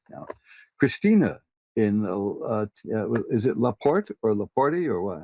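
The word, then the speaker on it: La Porte: Christina in is it Laporte or Laporte or what? How do you pronounce that in Texas?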